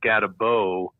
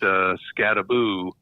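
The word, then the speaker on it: Skattebo: And it's funny, his name is spelled like it would be pronounced Scatabo, but it's pronounced Scattaboo.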